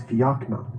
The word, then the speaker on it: Fiachnan: And in a very serious tone, he said, "The way you pronounce that word is Fiachnan.